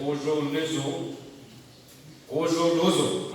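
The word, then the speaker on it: Kuzholuzo: He is known as Azo, but his name is Ojo Lozo.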